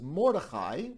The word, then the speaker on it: Mordechai: my name for example in hebrew it is mordechai but in the ashkenazi pronunciation it's and in the diminutive it becomes the name miriam becomes